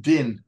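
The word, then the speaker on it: דין: is always equated with judgment or in Hebrews pronounced din which is from the same letters as Don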